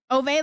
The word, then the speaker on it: Ove: Ove, like over, like Jover. Oh, Ove. Okay, Ove. Okay, thank you for explaining it in Degen terms. It's Jover. It's Ove.